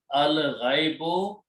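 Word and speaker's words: الغيب: If we add the word al, this will become one dhamma, and pronunciation will be al-ghaibu, and the meaning will be the unseen.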